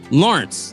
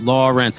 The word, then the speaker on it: Lauren: Thank you for saying my name again, because I think I just rushed it, and it was like, Lawrence. And I'm like, it's Lawrence. It's 2 syllables.